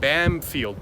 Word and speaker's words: Bamfield: there's a town just south of here called bamfield b-a-m-f -e-i-l-d I after you accept that and